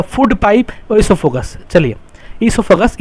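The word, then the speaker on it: oesophagus: चलिए, ईसोफेगस, ये ओ को हम साइलेंट रखते हैं, ईसोफेगस कहते हैं।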